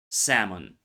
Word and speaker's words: salmon: Silent L appears in should, would, could, also words like talk, walk, salmon. The vowel before the L often lengthens, but the L disappears.